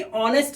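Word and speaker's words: honest: दास मां यानी की ऑनेस्ट मां अब इसका साउंड क्या होता है पता है इसे ऑनेस्टी नहीं पढ़ने ऑनेस्ट ये कोई डरावना नहीं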